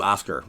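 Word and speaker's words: Osgir: that is running oscar we're gonna call you oscar i'm not pronouncing that g that's oscar man all right and what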